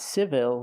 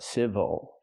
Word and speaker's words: civil: a long time ago again not civil but civil but what if I